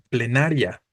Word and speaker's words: plenaria: O lo mismo sucede con plenaria, ¿no? Aquí tenemos la terminación ia o ia, pero otra vez la sílaba tónica no se encuentra entre la I y la A, se encuentra en na específicamente, ¿va?